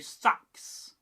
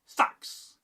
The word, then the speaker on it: seax: You'd hear something closer to sax. Very tight, very direct. Sax. No stretching, just the blade in sound form. In Saxony itself, in what is now Germany, again, seax is pronounced sax, firm and grounded, almost unchanged from its older roots.